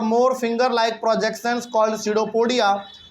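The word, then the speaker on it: pseudopodia: उसके बाद it pushes out वन और मोर finger like projections called सीडोपोडिया। बहुत लोग इसको पी सीडोपोडिया पढ़ते नहीं, इसमें पी साइलेंट होता है, केवल इसको क्या पढ़ेंगे? सीडोपोडिया पढ़ेंगे।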